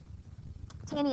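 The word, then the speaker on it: Taney: him um Roger bany tany is spelled t a n e y Roger be tany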